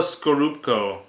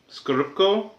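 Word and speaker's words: Scorupco: I always forget how to say or pronounce her last name. It's Isabella Skorupko. Skorupko.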